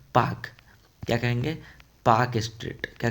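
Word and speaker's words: Palk: पी ए एल के बट आप लोग पालक के मत कीजिएगा। इसे क्या कहेंगे? पाक।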